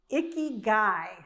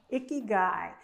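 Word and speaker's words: ikigai: It's icky guy. Icky guy.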